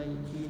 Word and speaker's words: Nike: Emang cara pembacanya benar itu Nike bukan Nike. Bukan Nike tapi Nike.